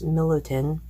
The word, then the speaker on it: Milutin: And the closest we could find explained online was Milutin. Like Milton with an extra in there.